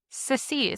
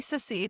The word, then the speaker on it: secede: If we s sec succeeded. Succeeded. If we secede. It sounds like I'm saying it wrong. It sounds like you're saying succeeded incorrectly, but it it is a word.